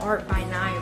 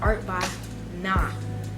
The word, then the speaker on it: Art by Nye: So for those of you who are wondering, I kind of pronounce my channel name as Art by Nye, but it's not Art by Nye really. It's more like Art by Nah, okay?